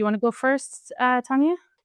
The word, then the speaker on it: Tonya: I'm not supposed to There's no particular Scandinavian pronunciation of Tonya. I bet you there is. Yeah, but Tonya is totally okay.